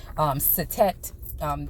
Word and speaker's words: Satet: So it's funny that, when we deal with this goddess that's here, Satis or Satet, is different ways to pronounce it.